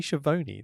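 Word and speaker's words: Schiavone: Listen to the way he says it. It's Tony Shioone. That's how he says it.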